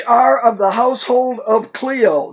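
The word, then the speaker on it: Chloe: by them which are of the household of Clio not not chilo it's ch but the CH is pronounced que Clio that there are contentions multiple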